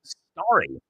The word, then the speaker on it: Starry: They're calling this Starry. It's like it's spelled Starry, like a starry night.